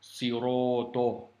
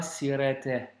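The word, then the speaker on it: صراط: Tu vois ce mot siroto, c'est des lettres avec emphase, qu'il faut prononcer avec emphase. Imagine-toi prononcer comme ça. Ihdina sirete.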